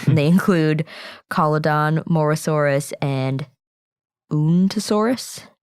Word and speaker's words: Uintosaurus: They include Collodon, Morosaurus, and Untosaurus. I'm not totally sure how to pronounce that. It's Uintosaurus.